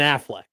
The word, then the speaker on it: Affleck: I hate how Matt says Affleck. It's not the insurance company. Sorry, Ben Affleck.